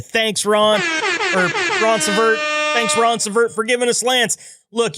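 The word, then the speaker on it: Ronceverte: And finally, Lance Hammonds, van OTR driver, and I looked up how to pronounce this one, from Roncevert, West Virginia. Thanks, Ron. Or Roncevert. Thanks, Roncevert, for giving us Lance.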